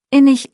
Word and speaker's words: innig: Auch das CH ist tricky. Innig ist es weich, fast wie Luft.